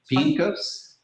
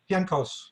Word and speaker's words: Pienkos: So today we have with us Mark Pienkos, which is, I think I said it right, Mark? Pienkos? Yeah. All right, did I get the right inflection? Pienkos. Pienkos. It's Polish, right? Yes.